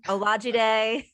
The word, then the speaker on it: Olajide: I'm about to butcher your last name, Olajide. I think I did it. Perfect. That is exactly how to pronounce it.